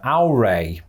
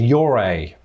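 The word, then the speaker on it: Ouray: instinct so i think i'm going to hear au rey this would be six if this is correct yuri is rightly nicknamed this they put a wire in there where there isn't one so it's your a ah they can't they can't be doing this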